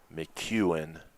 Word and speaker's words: McEwen: McEwen is the pronunciation.